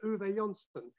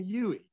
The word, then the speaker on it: Uwe: he developed a name for himself they couldn't pronounce his name they couldn't say uon they kept calling him yui so you know they didn't know that if